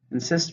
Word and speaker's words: insist: number 11 is insist insist means you will not accept no to verb how many syllables insist to stress in the seconds insist please go first